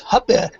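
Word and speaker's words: Hoppe: Another one that's hard is uh I call him Hans Hoppy, a friend of mine. Uh he calls themselves Huppet, but I can't say it, so I call it Hoppy.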